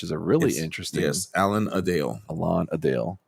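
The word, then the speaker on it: Alan-a-Dale: So, oh, we see Allan Alanadale, which is a really interesting Yes. Alan Adale. Alan Adale. It's Alan Adale.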